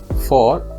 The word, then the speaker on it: though: in the same syllable it's found in words such as do though and although and it's pronounced like an o like in the word no the eighth and last